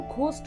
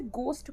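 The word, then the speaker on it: ghost: घोस्ट नहीं लिखा होता, ये एच जो होता है ना, ये एच साइलेंट होता है, तो इसे गोस्ट पढ़ते हैं, ठीक है, एच साइलेंट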